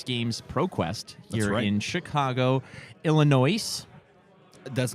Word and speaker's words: Illinois: being Illinois right now you just take away the S that's all you do straight forward yeah it's